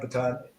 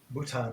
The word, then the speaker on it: Bhutan: if you remember that into Baton and Baton Bhutan there we go get it right didn't pronounce it that's why I couldn't